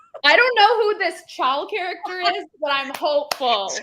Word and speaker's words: Chal: Literally, It's Kale.